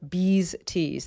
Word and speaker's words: BeezeTees: the company that I currently use is called bees tease that's spelled b-e-e-z-e-t's t-e-e-s and Lex my right and